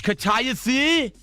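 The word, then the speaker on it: kataifi: It looks like it's pronounced katay. He's really heated about this. It's katayafi.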